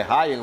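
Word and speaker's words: Rayan: naquele lance foi o não é ran é é é é a outra pronúncia o Rian é do Corinthians mas é Ryan né que que chama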